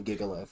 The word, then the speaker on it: Gigalith: It's Gigalith. Giga and Liz. That one's not hard. That one's absolutely Gigalith. Yes. Yeah. Just Don't pronounce it like Gigolo, please.